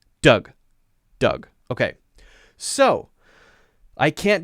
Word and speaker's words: Doug: the rules don't work, and a vowel sound that is two letters together may just make a simple vowel sound, in the case of D-O-U-G, which is just pronounced Doug.